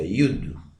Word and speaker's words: יוד: Es la palabra, como se pronuncia, Yud.